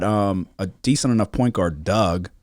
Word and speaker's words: Dug: And then the other guy, Buffkin, and then they've got a decent enough point guard, Doug, but it's spelled like D-U-G. Something weird, like Dig Dug.